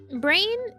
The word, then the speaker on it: Brain: Brain, that is just how you say it too. Like, the katakana is burain.